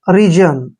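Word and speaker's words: reason: ए आता है तो एस का उच्चारण ज करते हैं ओन का उच्चारण न होगा रीजन ऐसे रीजन रीजन क्या होता है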